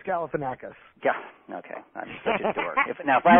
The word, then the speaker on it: Galifianakis: today is called is zach galinafica did i say his name right no you didn't it's galifianakis yeah okay now if